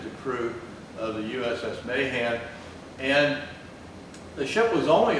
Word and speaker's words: Mahan: of the USS Mayan now I've heard most of the time his name for Albert there Mahan and most of the time it's pronounced that way every time I ever heard the ship it was pronounced Mayan so that's what I'm going to do or otherwise I'll